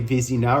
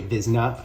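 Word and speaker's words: Vezina: Now a lot of you guys note that I very often say Vizina or Vizina as opposed to Bezna. And that's because growing up in Quebec that's how we pronounced it.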